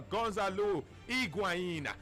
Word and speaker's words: Gonzalo Higuaín: Tojo Kellan a less Teleco salehi Guana it's pronounced a Gonzalo higuaín Stefan a legend China like you know it